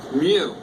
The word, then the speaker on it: mu: me and I really can't blame me too much but is a you with an extra leg